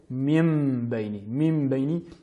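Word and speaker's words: مِنْ بَيْنِ: Par exemple, Min Bayni, nous prononcerons Mim Bayni, et en ajoutant ce nasillement particulier, donc avec un nasillement supplémentaire.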